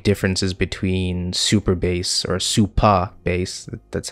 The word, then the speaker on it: Supabase: are two big differences between super bass or super bass that's how it's pronounced no er and firebase first of which